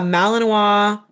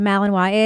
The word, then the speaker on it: Malinois: So you're telling me a Malinois German Shepherd isn't freaking the hell out and